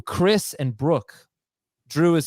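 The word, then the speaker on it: Khris: Yo, Drew, Chris, and Brooke. Drew is spelled J-R-U-E.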